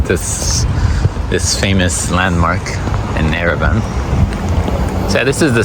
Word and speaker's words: Yerevan: It's spelled Yerevan in English, but it's pronounced Yerevan without the Y.